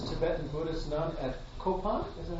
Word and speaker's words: Kopan: Venerable Robina Courtin was ordained as a Tibetan Buddhist nun at Kopan, is that how you say it? Yeah. Kopan Monastery in 1978.